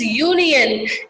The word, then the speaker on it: union: So, and again here it is union. Again that U is a oval, but actually it sounds like a Y.